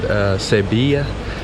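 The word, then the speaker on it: Sevilla: we're in Seville Spain I think the locals pronounce it sabia and right now I'm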